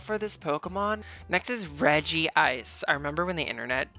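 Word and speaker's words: Regice: no it's not it's not Reggie ice it's regg ice girl they're the Reggie Trio it has to be Reggie ice and even the reason why I called it Reggie ice was also before the the the Lucario Mystery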